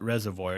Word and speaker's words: Reservoir: yeah, the reservoir. It's actually not reservoir; it's pronounced reservoir. Reservoir. You don't pronounce the OI.